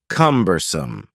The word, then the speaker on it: cumbersome: next word is cumbersome the word cumbersome has three syllables and the stress is on the first syllable cumbersome something that is cumbersome